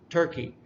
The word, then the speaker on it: Turkey: The first one is China, Turkey. That's where the first syllable is emphasized more. It just sounds louder because we emphasize it more.